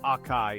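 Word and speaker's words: açaí: Moving on, let's talk about acai berries. No, it's not pronounced acai, it's acai.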